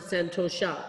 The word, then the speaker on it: santosha: I think everybody pronounces it santosha, but I've seen it spelled differently.